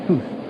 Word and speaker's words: house: wrecked part of the foundation of the house, pronounced hoose.